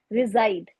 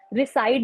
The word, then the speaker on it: reside: I reside, इसकी pronunciation है रिजाइड, रिसाइड नहीं है.